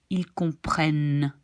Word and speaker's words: comprennent: Nous comprenons, vous comprenez, ils comprennent. Again, this N you pronounce, but not the ENT.